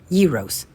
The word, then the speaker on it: gyros: I now know the correct pronunciation is Eros but I didn't know